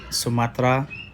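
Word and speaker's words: Sumatera: And sometimes E just isn't pronounced, like in Samudra and Sumatra.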